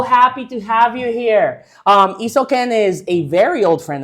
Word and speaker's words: Isoken: My name can be a little bit hard to pronounce, so I kind of break it down into Isoken.